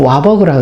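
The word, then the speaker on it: Warburg: 우토 하 일이 바이브 바로 부록 앓은 사람 이게 이제 이름이 이렇게 바로바로 근데 미국 신발 발음으로는 와 버그라고 그래요 그 박사 연구진은 어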